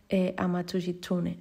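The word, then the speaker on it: 天狐: Sin embargo, la forma de describirlo, es decir, los símbolos chinos de Tengu acompañados de furigana, hacen que se pronuncie como Amatsushitsune, es decir, zorro celestial.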